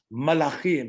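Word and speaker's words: מלאכים: And he turns to Hopkins playing Alan Hahn, and Alan says, Malachim.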